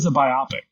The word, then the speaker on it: biopic: It is a biopic.